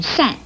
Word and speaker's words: 单: 单字用在姓氏上，既可以念单，又可以念善。国语注音是诗暗善四声善。